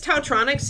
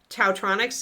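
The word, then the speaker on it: Taotronics: Tautronics is spelled T-A-O-tronics, like electronics, but Tautronics or Dowtronics, I guess.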